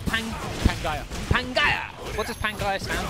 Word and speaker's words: Pangaea: It's pronounced Pangaea. Okay. Pangaea.